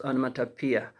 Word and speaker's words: onomatopoeia: the expressions of onomatopoeia onomatopoeia okay the pronunciation is on mata pia and the spelling is